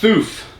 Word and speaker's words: Fuf: Oh, it's pronounced Foof.